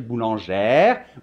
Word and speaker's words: boulangère: le 10 grammes et dans ce cas on doit dire boulangère ouvrière mais il n'ya pas